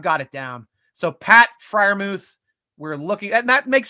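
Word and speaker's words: Freiermuth: tape i watch on pat freermuth i'm not sure it's pronounced pronunciation yet but yes he is a beast we were we showed two clips of his highlights before we got the cease and desist from youtube but yes so we are super friarmuth thank you thank you robert thank you cooley for doing something right for once friarmuth okay i'll say friarmuth from now on i got that one locked in especially when you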